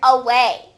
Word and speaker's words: away: For number 12, we're going to spell the word away. Away. And once again, it sounds like it would start with letter U, but it actually is letter A making that schwa sound.